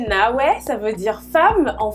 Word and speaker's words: Nawé: Eh ben, Nawé, qui se prononce en réalité Nawé, ça veut dire femme en Fongbe, qui est un dialecte du Bénin.